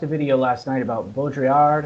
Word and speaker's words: Baudrillard: That's what I watched a video last night about Baudrillard, or however you pronounce it, Baudrillard. Baudrillard. There you go.